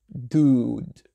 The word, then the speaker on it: dude: Donc cette expression s'écrit D-U-D-E, bien sûr, et le OU là, il est un peu long, dude, d'accord?